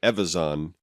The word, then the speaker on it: Evazan: I pronounce it Evazan, which is closer to Evan and Timothy Zahn, out of respect to two great Star Wars creators.